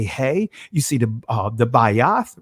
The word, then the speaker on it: Beth: As you see this letter right here, that is what the Bayath in Israeli language is pronounced the Beth.